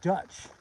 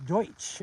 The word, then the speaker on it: Deutsch: It's actually sounds like you're saying like Dutch. It's Deutsch actually because people a long time ago misunderstood it as do Dutch and it was actually they're trying to pronounce it as Deutsch, which is German.